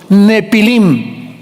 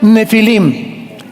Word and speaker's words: Nefilim: de gigantes llamados los nepilim. Esa palabra, si tienes tu Biblia dice gigantes, ponle nepilim con ph. Nepilim se pronuncia nefilim y significa caídos.